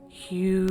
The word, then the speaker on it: HU: Spelt H-Y-U, pronounced Hugh, is the word of God.